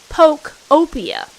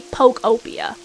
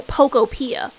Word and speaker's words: Pokopia: So, it's supposed to be Pokeopia, but not Poptopia or Pocopia.